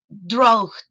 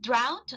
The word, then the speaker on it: drought: The students in some cases were pronouncing something like dro instead of drought they pronounced dro and